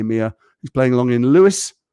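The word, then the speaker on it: Lewes: happy 19th birthday mia he's playing along in lewis spelt l-e-w-e-s are you impressed i knew i pronounced that and how jason can you shout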